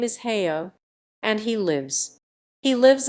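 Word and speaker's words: Haigha: Happy his name is heyo he pronounced it so as to rhyme with mayor I love my love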